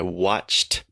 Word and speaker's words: watched: watching Game of Thrones I watched Game of Thrones T sound so the important thing to remember here is that there's no extra syllable added just the sound okay